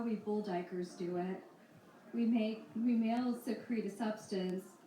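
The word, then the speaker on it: duiker: Dyer a small Antelope whose name is pronounced dier uses a pair of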